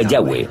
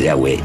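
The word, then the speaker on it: Yahweh: y hw así y pensamos que probablemente se pronunciaba yagüe o algo así pero ya ve solo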